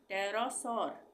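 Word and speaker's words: pterosaur: टी आएगा तब भी पी साइलेंट होगा इसका उच्चारण नहीं होगा इसको हम क्या पढ़ेंगे पी टी ई आर ओ एस ए यू आर इसको हम पढ़ेंगे टरसर टेरोस भी बोल सकते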